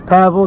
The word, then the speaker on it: Pavel: My name's Pavel. It's pronounced like gravel.